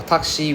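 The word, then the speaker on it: タクシー: For takshi, we say, right? The U is silent.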